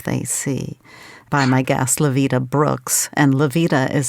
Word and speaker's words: Lyvita: about the life they see by my guest levita Brooks and levita is spelled l y v as in Victor I